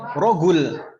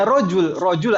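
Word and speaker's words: رجل: Ada sebagian negara jim itu dibacanya G, rogul. Ya rogul, ya rojul aslinya rojulun, tapi bilangnya rogul.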